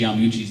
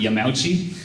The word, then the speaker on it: Yamauchi: Something that you learned later that you wished you had fixed I used to say Hiroshi Yamauchi's name wrong. How did you say it? Yamauchi.